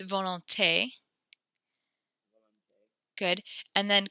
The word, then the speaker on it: volonté: So when there's the accent on the E, then we actually pronounce it. You said, so it's volonté.